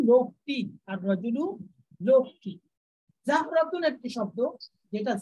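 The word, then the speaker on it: الرجل: র দিয়ে সূচনা হয়েছে এর শুরুতে আর আল আসলে আল নামটা স্পষ্ট উচ্চারিত হবে না, যেমন আর রজুলু লোকটি, আর রজুলু লোকটি, জাহরাতুন একটি শব্দ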